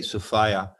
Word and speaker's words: Sophia: sophia which means wisdom i say sophia rhymes with desire okay i like that